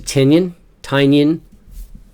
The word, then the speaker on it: Tynion: Do I really need to say, hopefully you guys are absolutely paying attention to Tynion. He corrects people all the time on how to pronounce his name.